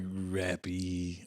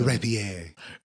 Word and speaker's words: rapier: Like rappy, R-A-P-P-Y. It is rapier. What is a rapier? I know it's a real word. R-A-P-I-E-R.